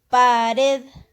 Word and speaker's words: pared: Pared. Pared. Entonces, es una palabra aguda.